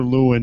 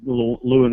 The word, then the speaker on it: Lewan: Yeah, I mean, it became, I guess, pretty evident that Lewin was their guy. That's how you say his name. I don't know if it's Lewin or Lewan.